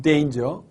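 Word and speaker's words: danger: 이렇게 말하는 요도 있습니다 물론 이단 의 정확한 발음은 레인즈 때 인저 은 데인저 자 또 어떤 분들은 요 설탕 아니라 뭐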